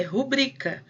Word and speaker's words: rubrica: o público é rubricar normalmente as pessoas usam pública mas se fosse rubrika teria que tem acento ela é rubrika então para esse trem